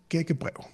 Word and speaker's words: gækkebrev: It's a word in Danish, and it's called gækkebrev. I wish that, it's both with the Danish R's, which can be hard to pronounce.